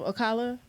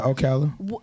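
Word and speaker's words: Ocala: So you being a part of Okala cuz I'm country so you know disregarded by pronounce it. Did I say it right? Yeah. Oala.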